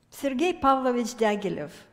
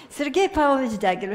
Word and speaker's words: Sergei Pavlovich Diaghilev: So, Sergei Pavlovich Diaghilev. One thing is in my favor is that I'm Russian, so I can pronounce it correctly. Sergei Pavlovich Diaghilev, here are his dates.